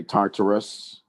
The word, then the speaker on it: Tartarus: us some people say Tartarus some people say Taurus but it's t in in my tongue if if I was going to pronounce it would be Tartarus now Tartarus is a special